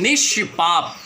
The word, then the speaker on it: निष्पाप: में चुना, वो है निष्पाप। तो देखिए, जैसे आपने निष्पाप शब्द का उच्चारण किया, आपने ये ज़रूर महसूस किया होगा कि आपका जीभ जो है बिल्कुल ऐसा सीधा था, कहीं ना तो नीचे